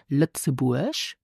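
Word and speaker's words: Lëtzebuerg: easy ich kenne lzeburg so pronounce luxurg the country lzeburg I wel ich gewunnt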